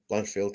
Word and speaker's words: Blanchfield: Blanchfield.